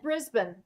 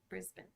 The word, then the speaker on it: Brisbane: Ben b n melbin same with Brisbane Brisbane Brisbane which is Brisbane in in the us if we were to read it so now of course